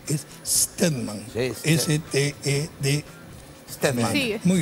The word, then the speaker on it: Stedman: Pero Stedman no se escribe con la E, es Stedman.